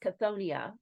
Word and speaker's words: Chthonia: month that we're diving into so cthonia usually pronounced cthonia but also Thon is one of heck's most